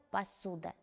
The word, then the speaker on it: посуда: Поставьте в этом слове ударение. Конечно же, ударение падает на гласную «у».